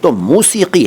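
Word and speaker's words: मौसिक़ी: आज का पहला शब्द है 'मौसिकी'। देखिए, उच्चारण पर विशेष ध्यान दीजिए। मैं 'मूसिकी' नहीं कह रहा हूँ।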